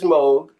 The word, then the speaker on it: Moog: And when you speak of Bob Moog, actually Moog is the correct pronunciation of his name. Moog, yeah. Moog, not Moog. I know a lot of people say Moog, but it is Moog.